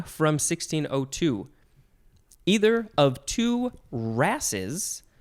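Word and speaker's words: wrasses: Either of two rasses, that is spelled W-R-A-S-S-E-S, rasses.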